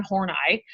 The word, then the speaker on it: Horney: One of them is a researcher named Karen Horney, and that is how you pronounce her name.